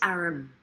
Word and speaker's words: arm: Your honor, he pronounced it arum.